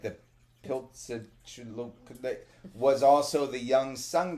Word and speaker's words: Piltzintecuhtli: p i l t z Piltzintecuhtli.